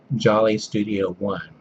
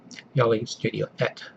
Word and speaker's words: jollestudio1: And, well, Americans might pronounce his channel name Jolly Studio 1. But it's actually pronounced Jolly Studio Et, if I remember correctly.